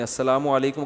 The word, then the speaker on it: السلام علیکم: میرے بھائی کا السلام علیکم اور صلی اللہ علیہ وسلم کا صحیح تلفظ بتا دیں. السلام علیکم کا ہے السلام علیکم, جو آج کل لوگوں